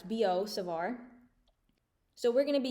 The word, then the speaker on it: Biot-Savart: this is called the bo savar law since they're french this is pronounced bo savar so don't go saying like biot it's bo savar so we're going to